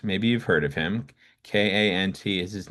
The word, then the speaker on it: Kant: K A N T is his name. It's usually pronounced Kant.